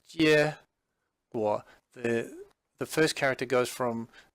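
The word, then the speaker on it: 结果: It's pronounced 结果. 结果.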